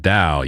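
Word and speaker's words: Tao: Zimble Bloom says, "Do you know about the towel pronounced pronounced Dao?" Yes, like like the Chinese style.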